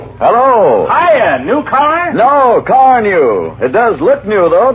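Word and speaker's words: Carnu: Why don't you buy a can of Johnson's Car New and wax polish your car this easy way? Here's how it's spelled.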